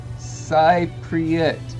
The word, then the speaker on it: Cypriot: Demi says it's Cypriot, pronounced Cypriot. Huh, I don't know if that helps. No, it really doesn't help. David says Cypriot rhymes with apricot.